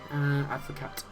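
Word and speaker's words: avocat: With a name like Pierre, you'd imagine that he'd be called the Advocate, but anyway, Advocate, if you want to pronounce the T, but which is obviously French for lawyer.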